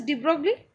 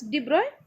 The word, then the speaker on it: de Broglie: This you may pronounce it as de Broglie, but this is actually pronounced as de Broglie.